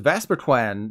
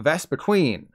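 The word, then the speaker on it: Vespiquen: queen bee the evolved form of Combi is pronounced vasperquan not vest between as for the beautiful butterfly it pains me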